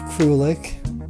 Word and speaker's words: Krulik: Today's episode features filmmaker, producer, and cult icon Jeff Krulik. Jeff, how you doing? Mike. Did I pronounce that right? Yes. Jeff? Krulik, yeah. J-E-F? No, Jeff. I know how to pronounce Krulik.